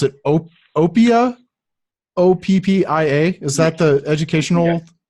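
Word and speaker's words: Oppia: you mention was that the how do you pronounce it Oh Oh Pia OPP ia is the educational yes uh tell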